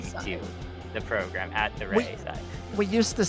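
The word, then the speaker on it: Raeside: You can follow Hannah on social media at the Ray Side, and then that's spelled RAE Side for those who are listening to the program at the Ray Side.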